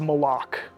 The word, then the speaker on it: Malak: Official pronunciation confirmed. So Malak. if you hear anybody saying Malak, send them right here to the archive of this stream. Our design lead has told us it's Malak.